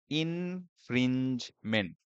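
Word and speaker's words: infringement: ইনফ্রিঞ্জমেন্ট।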